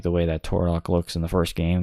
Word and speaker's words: Turok: It's pronounced Turok.